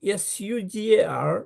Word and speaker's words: sugar: You you write s u g a r but they pronounce sha sugar not sha.